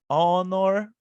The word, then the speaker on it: honor: Louise is an honor student, ok? Louise is an honor student. Então, honor, nós não estamos pronunciando o H, estamos pronunciando o O.